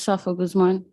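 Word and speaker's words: Saffah Guzman: here and if you state your name and spell it for the record please hi my name is Safa Guzman s-a-f-f-a-h g-u-z-m-a-n you may proceed okay so I'm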